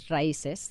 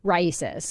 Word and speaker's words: RAICES: One is Raices. They're based in this, they're in McAllen, and they basically receive fees to pay for lawyer, lawyers. What's the name of the? Raices.